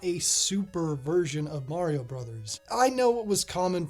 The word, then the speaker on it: Bros.: ago and 82% of you all said you pronounce it bros. Well, 82% of you are technically wrong. I mean, I don't really care, but the Japanese kadakana spellings of all of these titles would read as brothers.